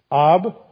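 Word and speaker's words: אב: without the ba on the end just AB AB you actually pronounce it AB just means father so ABA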